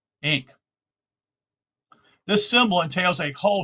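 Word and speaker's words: ankh: above the towel T that is its pronunciation equivalent was expressed by the English spelling of an a n k h recently changed by the gr grammarians to a a sorry e n KH ink this symbol entails a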